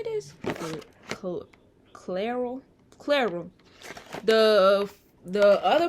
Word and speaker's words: Clairol: this actually this is how you say this clairol claire room the the other box that i